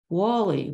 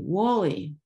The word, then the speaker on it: Whalley: of Archbishop Thomas Cramer in England and it's pronounced Wally Wally thank you British person uh oh so this